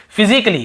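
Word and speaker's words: physically: पढ़ते हैं और देखिए फिजिकली हम क्या पढ़ते हैं फिजिकली ये देखिए फिजिकली तो यहां पर भी ए का उच्चारण नहीं हो रहा है और देखिए लॉजिकली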